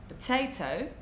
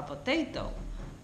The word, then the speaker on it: potato: so our students like Spanish students tend to pronounce potato they tend to say what they thought there's no explosion there's no air coming out of the mouth so it's not incorrect